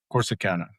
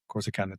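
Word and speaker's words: Corsicana: Corsana. Corsana, Texas.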